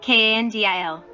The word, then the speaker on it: Kandil: Kandil. Bandil. R. 59. Kan is pronounced aloud. Dil is pronounced with a low voice.